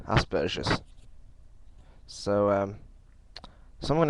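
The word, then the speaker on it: Asperger: Americans and Australians they seem to call it Asbergers um and then I've seen videos by um other people and it's been pronounced aspes I've always known it to be pronounced asperous so um so I'm going to go with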